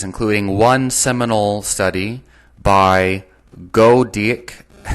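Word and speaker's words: Goedecke: one seminal study by go dick at al 1999 is pronounced that's a spell g o e d e c k e 1999 investigated the use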